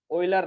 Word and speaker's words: Euler: ओइलर line, मत भूलिएगा, EULER, ठीक है, ऑयलर ही पढ़ेंगे, ई साइलेंट है बच्चों, राइट।